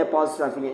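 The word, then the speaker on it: apostrophe: और इस कॉमा को कहते हैं एपोस्ट्रोफे। इसको पढ़ते भी यही है, एपोस्ट्रोफे। बहुत सारे लोग इसको एपोस्ट्रोफी, बहुत सारे लोग इसको एपोस्ट्रोफी और बहुत सारे लोग इसको एपोस्ट्रोफे पढ़ते हैं, लेकिन इसकी एक्चुअल प्रोनाउंसिएशन जो है वो एपोस्ट्रोफे है।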